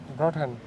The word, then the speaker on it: Brötchen: Brötchen.